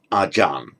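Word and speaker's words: อาจารย์: the teacher um archeria by virtue of the phonetics of thai they pronounce acharya as arjan it's often written like that it's just because of the the phanetics of thai that's how it comes out so the word arjan teacher from acharya 23.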